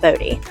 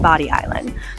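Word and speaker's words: Bodie Island: Why did I call it Body Island and not Bodie? Well, the truth is it is pronounced Body Island.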